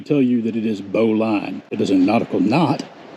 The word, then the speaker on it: bowline: B-O-W-L-I-N-E. Now it sounds like it would be pronounced Bowline. It is not. Do not let anybody tell you that it is Bowline.